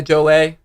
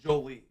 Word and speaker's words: Jolie: actual movie with Angelina Jolle. Yeah. Why' you say it like that? Jo. Don't do that. That's It's Angelina Jole. It's Jolie. Pretty sure it's Jo. No one says Jo. It's Angelina Jolie.